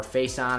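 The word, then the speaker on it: Facyson: Casey Hayward and Brandon Faison, or Faison, I believe is how you actually correctly pronounce that.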